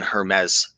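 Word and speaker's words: Hermès: any bites yo raiken the French don't pronounce the s in Hermes so you would say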